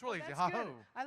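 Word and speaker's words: hohóu: Easiest one in Arapaho is 2 syllables. Ha, ho. It's real simple. Ha-ho! The young people say it like this. Ha-ho! Many ha-hos! But just ha-ho. I promise, you go to a powwow anywhere in Oklahoma, and you say, ha-ho.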